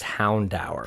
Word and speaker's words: Houndour: Oh, I say Houndour, but apparently it's Houndour. Oh, that's odd. Yeah, I don't like that. Yeah, it is. The official pronunciation is Houndour. Pronunciation. Because, there's an episode of the anime called Hour by Houndour.